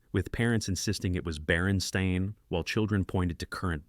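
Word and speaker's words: Berenstain: The consistency of the false memory extends to pronunciation, with most people reporting they said Baronstein as children. This pronunciation pattern doesn't match the actual Baronstein spelling, which would typically be pronounced Baron Stain.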